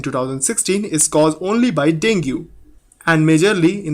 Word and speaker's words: Dengue: डेंग्यू pronounce dinghy also called break bone